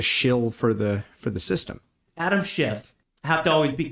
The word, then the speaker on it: Schiff: Adam Schiff, I have to always be careful. I always mispronounce his name with the letter T.